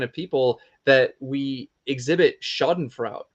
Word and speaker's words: schadenfreude: people that we exhibit schadenfrout if I'm pronouncing that right schadenfreude there you go shot and Freud for uh where we